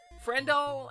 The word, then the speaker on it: Friendle: Friendle aka Kendall aka doll. Friendle best friend. So it rhymes with Kendall like like friendle like wordle like frenle